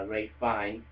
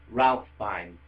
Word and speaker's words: Ralph Fiennes: with Voldemort, played by Ray Fiennes. Alright, no, not Ray Fiennes, Ralph Fiennes. It's spelled Ralph, but people keep saying Ray. It's Ralph Fiennes. If it was Ray Fiennes, it would be R-A-Y.